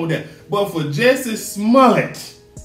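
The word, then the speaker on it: Smollett: But for Jessie Smallette, that's how you pronounce it, Smallette. It's Smallette.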